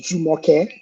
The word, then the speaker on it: Jumoke: It's pronounced Jumoke.